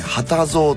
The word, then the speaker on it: 二十三: 漢、ね、数字で 23 と書いて旗蔵とお読みする方なんですね。